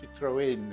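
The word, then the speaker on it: Citroën: deal he works with citrone or citrin as they pronounce here um he's got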